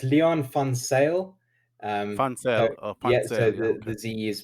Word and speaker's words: Van Zyl: the name right yeah yeah so it's leon fon sale um so the ze is pronounced with an s so that's uh dutch